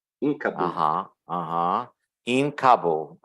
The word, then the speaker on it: Kabul: In Kabul. Usually in English they pronounce it Kabul. Kabul, okay. Yeah. But I don't know how they pronounce it in their language. But in English, that's how we hear.